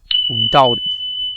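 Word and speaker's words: doubt: সঠিক উচ্চারণটা হচ্ছে এবং শেষের উচ্চারণটা হচ্ছে এটার উচ্চারণটা এটার হচ্ছে ডাউট ডাউট ডাউট অর্থ সন্দেহ করা তাহলে সাটিলি হয়ে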